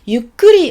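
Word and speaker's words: ゆっくり: Donc dans ce cas-là, vous dites yukkuri onegai shimasu. Donc il y a toujours onegai shimasu pour dire s'il vous plaît, et il y a yukkuri. Attention, on retient la syllabe kuri, yukkuri.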